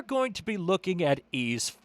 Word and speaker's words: Ys: And that that that video game series is ease y uh apostrophe s. It looks like wise. It looks like y is. It looks like eyes, but it's pronounced ease.